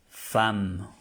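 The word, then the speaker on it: femme: tiene nada que ver y se pronuncia fam Por qué se pronuncia fam porque aquí está que una e y una M es igual a una a fam fam fam Entonces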